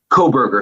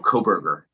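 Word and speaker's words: Kohberger: Is that how we're pronouncing his last name, Brian? Kohlberger? It's Kohlberger, so no L, Kohlberger.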